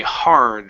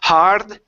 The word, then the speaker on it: hard: So, we have looked and okay, hard. Right here. Instead of hard. Okay. Don't roll your R. Push your lips out. Okay. Away from your face for that R.